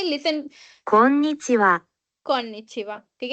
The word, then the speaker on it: こんにちは: Then एक और word है, मैं बोलने जा रही हूँ कोनिचिवा।